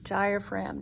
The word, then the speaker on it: diaphragm: right here is the diaphragm do you remember how to spell diaphragm that's right d-i-a-p-h-r-a-g-m and with the g being the sneaky silent letter on this muscle uh